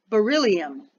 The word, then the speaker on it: Beryllium: Its name does rhyme with trillium, the lovely woodland flower. When combined with certain metals, it can boost their strength and power. What is it? Beryllium.